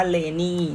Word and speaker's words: LANY: ว่า เลดี้ นะ คะ เรา อ่าน ว่า เลนี่ น้อง จะ จะ ไม่ อ่าน ไลน์ นี่ นะ อ่า มา เลย์ นี่